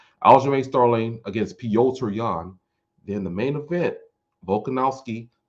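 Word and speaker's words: Petr Yan: so stacked we had hamzad against gilbert burns peter young versus al james third no pyoter leon i know how to say his name yeah now pyotr yan against al james starling al although i should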